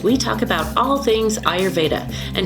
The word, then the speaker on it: Ayurveda: So I know a lot of people say Ayurveda, which you're not wrong, but it's mostly pronounced Ayurveda.